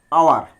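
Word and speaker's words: hour: আর এই দুটি শব্দের লক্ষ্য করছি, অনেস্ট, আওয়ার, আওয়ার অর্থ ঘন্টা, অনেস্ট অর্থ সৎ, এই শব্দে এইচ এর উচ্চারণ প্রয়োজন হচ্ছে না, যার কারণে আমাকে এখানে অ্যান লিখতে হচ্ছে।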